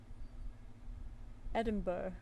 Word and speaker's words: Edinburgh: Edinburgh. You know, Edinburgh is how you pronounce it.